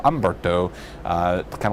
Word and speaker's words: Humberto: Obviously Humberto the H is silent so it's not Hberto. Ombberto uh kind of like Fernand Fernand is how we pronounce that name.